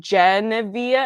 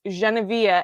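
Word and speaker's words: Geneviève: the pronunciation so but people can't hear the difference unless they speak french because they think i'm saying gen via i'm like it's genevieve and i've never said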